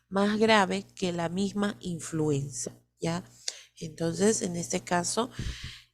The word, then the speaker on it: influenzae: A pesar de que se escribe Haemophilus influenzae, se pronuncia Haemophilus influenza tipo B.